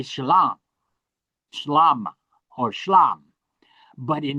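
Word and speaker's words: שלום: And in Western Aramaic, they make all the A's O. All the alops become O because of the Canaanite influence. And so, uh, that's why they say shalom.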